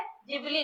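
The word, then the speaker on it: Ghibli: अब उसका actual actual pronunciation क्या है? जिबली।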